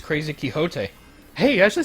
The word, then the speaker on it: Quixote: Oh, it's Crazy Quixote.